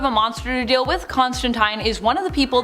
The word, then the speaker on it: Constantine: Also, for those who want to tell me in the comments that I'm saying Constantine wrong, I am saying it the way Neil